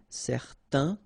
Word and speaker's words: certain: Okay, so it's nasal in your nose, un. Okay, if you add this at the end, then it will change the thing, and then you will pronounce it n.